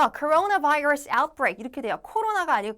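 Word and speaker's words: coronavirus: 병에 있어서 발병 창고 했다라는 뜻이 되고요 자 발음은 코로나 virus outbreak 이렇게 돼요 코로나가 아니고 코나 virus 이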